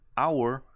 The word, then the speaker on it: hour: son las posibles excepciones Hour Aunque tiene una H suena como si la H no estuviera ahí por cuestiones de pronunciación del inglés ahora como la H no suena y lo que suena es el sonido de la O entonces tengo que agregarle